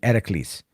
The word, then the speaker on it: Heracles: it's going to be Heracles. They don't say Hercules. They say Heracles. Heracles is how they pronounce it in ancient Greece.